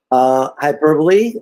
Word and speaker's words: Hyperbole: Hyperbole, that's how you say it, not how the British say it sometimes.